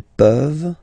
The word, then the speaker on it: peuvent: Je peux, tu peux, il peut, elle peut, nous pouvons, vous pouvez, ils peuvent, elles peuvent. Okay? As usual, this ending, this ENT ending, you write it, you don't pronounce it.